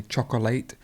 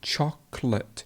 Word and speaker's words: chocolate: Lots of people say chocolate, but it's actually, you remove a syllable, chocolate. So we remove this altogether. So it would be chocolate.